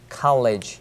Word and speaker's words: college: 다닐 때 여기 왔었습니다 할 적엔 my College days 할적에지가 아니고 College College 이와 같이 음이기 때문에 혀끝이 여러분 혀끝이 니몸에 밀착되도록 발음 하셔야 됩니다 my College days my